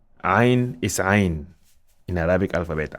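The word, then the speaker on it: عين: Ain is Ain in Arabic alphabet. Ain is Ain, it is not A.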